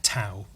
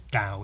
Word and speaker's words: Tao: It's pronounced da I thought it was ta Tao but it's Dao it's pronounced Dao dosm um Dao means being uh it believes